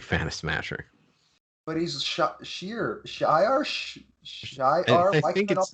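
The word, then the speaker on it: Shi'ar: But he's Shiar. Why think can I not it's pronounce this today? I think it's Shiar, right? Shiar. Thank you. It is Shiar. I don't know why I couldn't pronounce it today.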